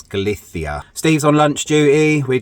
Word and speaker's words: Galicia: destination we are in galithia now or galsia if you want to pronounce it the uh English way but the Spanish way is galithia Steve's on lunch duty